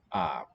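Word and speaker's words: aap: the dutch language and the word for ape or monkey is up and i remember very vividly somewhat vividly making that link that the double a shows a long sound let's begin a long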